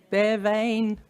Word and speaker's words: Bea Veayn: well done and how do you say it bear vein and do we know how and why people